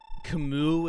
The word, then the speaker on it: Camus: loving princess nina um camus is how you say it it's french i am going to